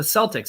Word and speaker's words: Celtic: for decades Celtic the Celtics it's Celtic is how you properly pronounce that I don't know why we softened the C on that well that seems like